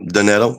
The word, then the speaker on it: Doanetto: Yep, Doanetto, that's correct.